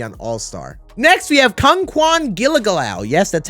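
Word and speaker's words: Kungkuan Giljegiljaw: power hitter especially on All-Star next we have Kung Kwan gilligalau yes that's how you pronounce his name I will say he might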